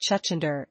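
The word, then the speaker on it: छछूंदर: This is the local North Indian name for the animal, which is pronounced Chuchundar and Chuchundar in Hindi and Urdu. The stress should be placed on the second letter, Y.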